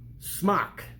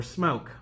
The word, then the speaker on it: SMOK: keep going out so smock or smoke however you want to pronounce it I don't really